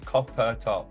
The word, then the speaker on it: Copper Topp: Is it 2 syllables? No, Copper Topp. It's 3 syllables.